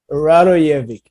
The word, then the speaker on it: Radojevic: So I hope I'm pronouncing the name right. It's close, Radojevic, but How do you say it? Radojevic.